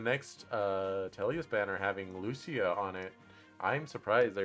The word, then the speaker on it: Lucia: of princess valencia and am i getting her name wrong it's lucio right i'm gonna double check that um all right fire emblem lucio yeah yeah it is lucia um in path of radiance she has long